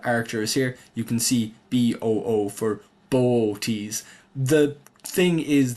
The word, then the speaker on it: Boötes: If we click on archers here, you can see B O for bo. The thing is that you're meant to pronounce these two O's separately. So, it's bo rather than booties like a ghost, but it is a tricky one.